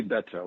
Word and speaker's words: Beto: So, well, I say Beto, which is the way that you introduced me, but I have heard Beto, which is your son's pronunciation. I've heard Beto, all variations, and all of them are fine with me.